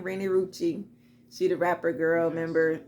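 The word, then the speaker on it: Renni Rucci: Rennie Rucci. That's how you say her name, Rennie Rucci.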